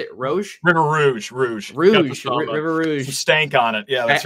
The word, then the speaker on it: River Rouge: River Rouge.